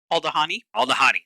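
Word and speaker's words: Aldhani: How do we decide we were going to pronounce it? Aldahani.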